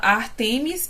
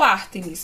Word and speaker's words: Ártemis: um comentário aqui, que a Anne fala Ártemis e eu falo Ártemis, mas é a mesma deusa, tá? Porque a mitologia grega tem essa questão de pronúncia, igual Poseidon, tem gente que fala Poseidon, Dionísio vira Diônesis, mas assim, Ártemis e Ártemis é o mesmo deus, é o mesmo deus.